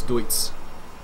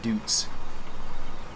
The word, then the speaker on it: Deutz: I think it's Deutz, not Dutz.